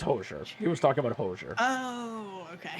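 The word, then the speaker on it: Hozier: I believe I believe my brother-in-law once uh sent us a recording of him playing Cherry Wine by, as he pronounced it, Ozier. It's Hoser.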